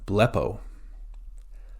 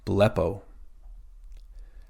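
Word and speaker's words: βλέπω: the last letter is Omega next we have blepo blepo beta Lambda Epsilon with the acute accent p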